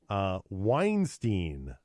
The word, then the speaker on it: Weinstein: sexual advances to rape Weinstein has denied the allegations according to babble some linguish argue that his name should rhyme with Einstein they should they it's